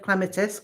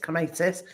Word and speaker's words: clematis: uh so barbara says the wrong version of clementis clematis would be the correct pronunciation in german yeah no so it's